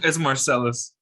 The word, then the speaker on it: Marcelese: It's Marcelese.